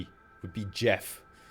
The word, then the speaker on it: Geoff: Another example of a soft G is Geoff. Jeff. Geoff. You wouldn't say Geoff. You would say Jeff, right? It's with a soft G. It would be Jeff, right?